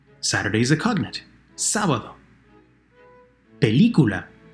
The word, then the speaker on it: película: Película, the word for movie. Película, hear it? The 3rd to last syllable is stressed.